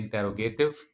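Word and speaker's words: interrogative: इंटेरोगेटिव या इंटारगेटिव इज the right pronunciation in American accent.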